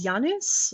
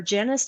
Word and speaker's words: Janus: My last name is Janus, or Janus, depending on how you pronounce it.